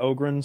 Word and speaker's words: Ogryn: called an ogre story ogren is spelled o-g-r-y-n and ogren is one